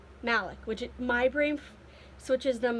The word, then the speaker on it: Malik: jla pronounce malik and m a l i k is pronounced malek which my brain switches